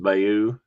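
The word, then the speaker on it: Bayeux: Um the gold be the British soldiers who landed on gold moved in towards Bayou and I looked that up. That's more or less how that's pronounced. Bayou strategically important for the Allies as a logistical hub.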